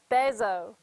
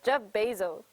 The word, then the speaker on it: Bezos: google hello google okay how to pronounce jeff bezo oh shoot jeff bezel bezo oh shoot are you programming while listen to me oh he's this person says jeff bezos jeff bezos what are